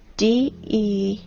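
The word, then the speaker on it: дерево: You know, in the Russian language, the word tree is spelled D-E-R-E-V-O, de-re-vo. The word ancient tree is spelled D-re-vo, and the word ancient trees is spelled de-re-nost.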